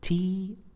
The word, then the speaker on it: two: So this word 2 is pronounced, is spelled T-W-O, T-W-O. And as you could see, the combination of letters W-O is pronounced oo.